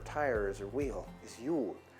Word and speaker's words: Jul: Jul, like Yuletide carols, Jul.